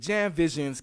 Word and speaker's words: JamVisions: But JamVisions, CamGod.